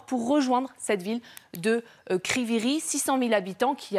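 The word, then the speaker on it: Kryvyi Rih: intérêts pour les russes kryviy rih c'est comme ça que ça se voit ça se prononce je parle sous votre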